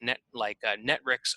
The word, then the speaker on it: Netwrix: Now, if you don't have anybody who knows how to use Perl, then you could go buy a product like Netrix Auditor, and that's spelled Netwrix.